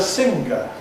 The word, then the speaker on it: singer: Not only therefore is it sing but it's singing and the person who does it is a singer.